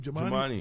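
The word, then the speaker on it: Jumaane: How do you pronounce his name? Jemani.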